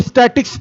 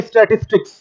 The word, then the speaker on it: statistics: इसको स्टैटिक्स पढ़ते हैं, कई लोग केवल स्टैटिक्स पढ़ते हैं। आप स्टैटिक्स मैथ्स के स्टूडेंट होंगे तो जानते होंगे, स्थिति विज्ञान को कहते हैं बच्चों। ये पूरा प्रोनाउंसिएशन जो है वो है स्टैटिस्टिक्स।